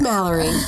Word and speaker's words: Malerie: We're going to be right back with Mallory. You can follow her at Malerie Grady. That's right. Spelled like Valerie with an M.